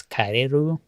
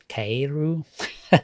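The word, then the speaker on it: カエル: Uh, frog in Japanese, his name is Keru. Keru. K E K A E R U.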